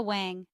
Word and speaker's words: Wang: doors ver w ver Wang Wang is pronounced like bang Tori Burch Tori bir